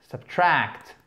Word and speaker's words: subtract: To subtract, subtract, ok, c'est un à court. Subtract, accent tonique sur la deuxième syllabe. La seconde, pardon, puisqu'il n'en a que deux.